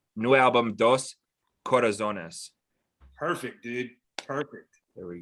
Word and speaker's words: Dos Corazones: I want to make sure I pronounce this right. New album Dos Corazones.